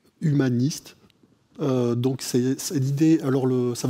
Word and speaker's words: Human-IST: Et vous, vous le prononcez comment? Humaniste.